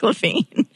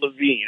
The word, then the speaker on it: Levine: And I was like, oh, that's delegate Mark Levine. I'm going to go talk to him. He's a fellow conservative. Yeah. Right? He's Mark Levin. He pronounces it Levin, and I pronounce it Levine.